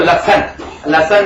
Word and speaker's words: लहसुन: Allium cepa that is onion प्याज, और allium sativum that is garlic लहसुन। हम लोग बोलते हैं उसको लहसन नहीं, लहसुन उसका सही नाम होता है।